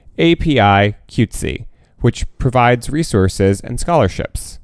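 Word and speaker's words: APIQWTC: asian sisters in solidarity also asian pacific islander queer women and transgender community pronounced api cutesy which provides resources and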